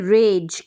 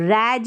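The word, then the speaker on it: rage: फिर ये है रेज, क्या है, आर को र, रैज नहीं पढ़ेंगे, रेज पढ़ेंगे, सैज नहीं पढ़ेंगे, सेज।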